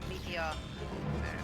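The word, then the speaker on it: Meteion: Pronounced as Meteon. Meteon, most like meteor.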